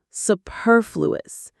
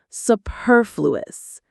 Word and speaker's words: superfluous: The stress is on the second syllable. Superfluous. That purr is just like the sound a cat makes. Superfluous.